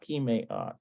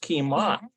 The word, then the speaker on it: כמעט: It's not kimeat. There it is. כמעט. It's just kimat.